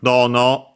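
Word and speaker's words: どの: Uh Uh Oh yeah, first we have dono, a part of the kosoado series. Accent on the do like those are usually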